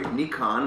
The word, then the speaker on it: Nikon: way I like it Nikon Nikon sorry Nikon which is the proper way of pronouncing it we in the US